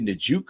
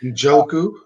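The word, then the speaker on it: Njoku: a contract we'll talk about that um David majouk ooh-hoo I probably said his name wrong Joe ku Joe ku has said that we love him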